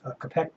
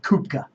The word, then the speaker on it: Koepka: So when that name Koepka, I pronounce it Koepka. And my Iowa friends back in Iowa, in that community in Clutier, Iowa, where there's a lot of wonderful kolache bakers going on, and they would pronounce that name Koepka. So I'm going to pronounce it Brooks Koepka.